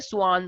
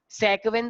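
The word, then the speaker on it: Schwann: स्वान cell, सेक्वेन cell नहीं। देखो ये स्वान है, स्वान मतलब साइलेंट है, तो कुछ लोग इसे सेक्वेन सेल भी बोलते हैं।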